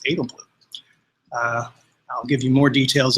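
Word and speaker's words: Edelblut: The T is silent. It's Edelblue.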